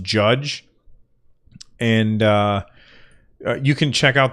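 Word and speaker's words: Jydge: golf and then one called JY d GE I think that that's pronounced judge and you can check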